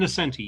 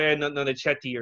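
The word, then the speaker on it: Ann Nocenti: I'm going to say their name wrong, but she wrote for Daredevil. and Nascenti, yeah. Yes, okay. I used to call her Anne Nonichetti or something when I was a kid.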